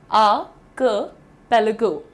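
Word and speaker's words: archipelago: द्वीप समूह को प्रोनाउंस करना है आपको आर्किपेलागो, आर्किपेलागो। अब अगर आप क की जगह हल्की सी ई की मात्रा लगाना चाहते हैं, बेझिझक लगाइए, आर्किपेलागो, आर्किपेलागो, आर्किपेलागो।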